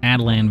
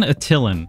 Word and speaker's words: Attilan: Trying to get most Adelan value. Am I saying it right? Adelan? Attilan. Adelan. It's Adelan. Someone corrected me early on and I don't remember what it was, but I think it's Adelan.